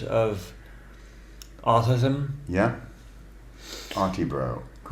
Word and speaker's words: Autibro: Do you say Oddity Bro? Like that? The Oddity Bro Show. The Oddity Bro Show.